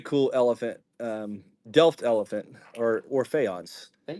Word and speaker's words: faience: Very cool elephant, Delft elephant or faience. Faience.